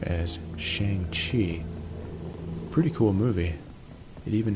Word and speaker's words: Shang-Chi: I always pronounced it Shang-Chi, but in the movie, he pronounces his own name as Shang-Chi.